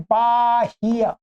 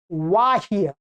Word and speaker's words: वाह्य: तो यहां बाह्य जब ढोने के, ढोने योग्य इस बात को आप कहना चाहते हैं तो वाह्य वह बोलना पड़ेगा आपको, ब नहीं बोलना।